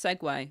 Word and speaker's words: segue: to say that all the time a nice sigu and I used to get comments being like you do know it's segue.